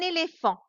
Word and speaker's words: éléphant: Alors, attention ici, tu répètes après moi, un éléphant. Je regarde bien qu'il y a un PH, mais je prononce F.